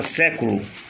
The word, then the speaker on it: século: Exemplo, palavra século, a sílaba forte é essa, ó. Você conta 1, 2, 3, última, penúltima, antepenúltima. Século tem acento.